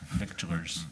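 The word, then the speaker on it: victualler: Lots of things about businesses that don't have, It's Vittel and Vittler. So you don't Yes. pronounce the C. There, you don't pronounce the C and T, or the C anyway.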